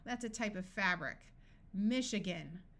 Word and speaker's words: Michigan: a type of fabric Michigan note that this a schwas Michigan is a state in